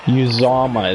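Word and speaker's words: Uzomah: Yuzama is how they pronounce it.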